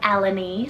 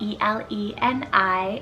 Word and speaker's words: Eleni: list a greek inspired name here we have elleny spelled e-l-e-n-i eleni this one means sun ray then i